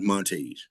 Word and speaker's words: Montague: I've heard this said both ways, so please tell me if I'm pronouncing it incorrect. Your character, Beauregard Bug Montague, is it? It's okay. Beauregard Montage.